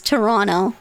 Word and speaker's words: Toronto: Toronto is Toronto. Just forget the T. Just forget it. Ah. I mean, it's a silent tea. Silent. T's are silent, so it flows better.